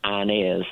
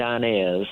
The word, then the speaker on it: Inez: my head, Inez, but I'm hearing it with a southern pronunciation, Inez. Your Aunt Inez, because I'm from the South, and it's not your Aunt Inez, it's your Aunt Inez.